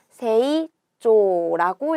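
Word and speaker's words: 成長: 이룰 성자에 길장자를 써서 세이조라고 읽어줍니다. 그러니까 얘는 답이 몇 번이에요? 4번이 되는 거죠. 세라고 길게 읽어주니까 단음으로 읽으면 안 되고 초라고 하는 거니까 요렇게 쓰면 안 되고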